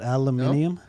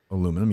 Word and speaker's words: aluminium: And the Brits call it aluminium. Is that true? Yeah, and they get upset because it's IUM. It's spelled like that. Aluminum, yeah.